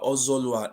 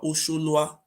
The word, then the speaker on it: Ozolua: Oba Ozolua is not even Oba Ozolua, it's called Oba Osholua.